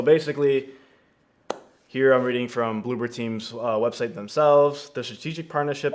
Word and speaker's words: Bloober Team: Our next topic is going to be about Konami and Blueberg. I believe that's what we're talking about. Or not Bloomberg, but Blooper Team. Or Bloober Team.